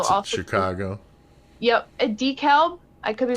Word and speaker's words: DeKalb: Yep, a DeKalb. I could be pronouncing that wrong. Yeah. DeKalb, yeah.